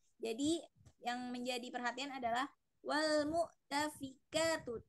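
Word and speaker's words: وَالْمُؤْتَفِكَاتُ: Di sini fa-nya dia tidak ada penambahan ya. Jadi tidak panjang. Tadi ibu membacanya wal mu'tafika. Jadi seakan-akan fa-nya itu menjadi 2 harokat ya. Jadi di sini tidak ada ya.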